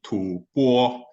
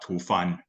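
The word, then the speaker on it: 吐蕃: uh make a point I think the uh pronunciation for Tibet in the old days is actually too poor not too fun it's mostly been been always been said as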